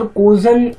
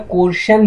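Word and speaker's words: coercion: सर कोर्जन इसकी pronunciation है, बट कई लोग इसे क्या कहते हैं? कोर्शन भी कहते हैं, बट इसकी प्रोनाउंसिएशन क्या है? कोर्जन।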